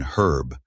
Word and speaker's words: herb: So Americans who pronounce the H in hospital but not in herb say a hospital and herb, a hospital and herb. But British people who pronounce the H in herb but not in hospital say an hospital, a